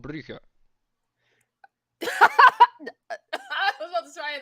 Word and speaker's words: Brugge: that's so Wait, Bruges, right? can you say it again? Say it again in Dutch. Dutch, Brugge.